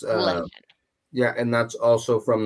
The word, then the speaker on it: Leshen: It's Leshen.